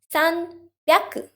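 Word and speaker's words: 三百: the p sound and in 300 there's a b sound sun pyaku okay i hope this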